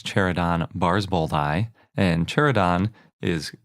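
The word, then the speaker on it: barsboldi: with chair Adan and the species name is bars bold hi so it's chair Adan bars both I and chair Adan is called this because it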